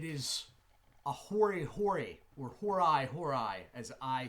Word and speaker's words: hori hori: It is a Hori Hori, or Hori Hori, as I say it. I've heard it pronounced both ways.